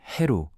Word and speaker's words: 헤루: 현재 우리가 사용하는 호루스는 그리스어를 거쳐 라틴어로 전해진 이름이고 원래 고대 이집트어로는 헤루 또는 후얼라고 발음했습니다. 콥트어라고 불리는 후기 이집트어에서는 여전히 이런 발음이 남아있죠. 상형문자로 쓰인 호루스의 이름을 현대 이집트 학자들은 헤루라고 읽고 있습니다.